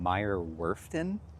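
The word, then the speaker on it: Meyer Werft: Um, so Disney Adventure was built in Meer Worfton, but pronounce that with a German accent.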